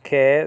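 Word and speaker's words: καί: Kai, nowadays pronounced ke, that's a conjunction, a linking word, linking that idea to, or that clause to, or the next clause.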